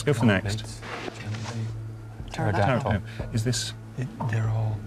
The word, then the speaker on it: pterodactyl: These are all words that begin with P without pronouncing the P. They Pfennig. are words that begin with a silent P.